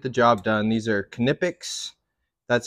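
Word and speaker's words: Knipex: they should get the job done these are knippics that's how you say it but they're just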